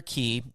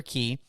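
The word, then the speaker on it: Quay: down to the circular key and it's pronounced key that's right i said that there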